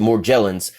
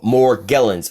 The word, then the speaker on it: Morgellons: Morgellons disease but Morgellons some people pronounce it more jealous but Morgellons I definitely suggest as